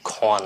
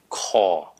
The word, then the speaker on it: call: Please, đừng có bao giờ mà phát âm chữ con đó nha. Con, đừng có con. Nó là call.